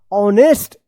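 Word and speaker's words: honest: पढ़ेंगेस्ट ये गलत हो जाएगा इसको पढ़ा जाएगा ऑनेस्ट एच ओ एन ई एस टी ऑनेस्ट young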